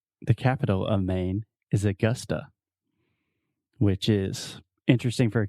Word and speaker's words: Augusta: talking about the schwa so most brazilians will see this word and they want to say au gusta one more time augusta augusta awesome i'm gonna visit augusta this summer augusta augusta and it's not all coaster it's not augusta augusta yeah so you have two schwa the uh uh sound augusta augusta almost almost